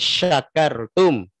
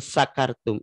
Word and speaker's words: syakartum: mengganti huruf itu salah satu contohnya yang harusnya dibaca sya jadi sa lain syakartum laazidannakum wain kafartum innaabill syadid ini dibacanya sa lain sakartum itu artinya jauh banget kalau lain syakartum artinya bersyukur kalau lain sakartum artinya mabok gitu oh pantesan jigana mah